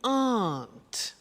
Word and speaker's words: aren't: they aren't cheap so the difficulty here is the pronunciation of our not which is Aunt okay art good so